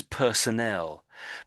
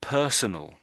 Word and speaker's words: personnel: So this is personnel. But I think you said personal.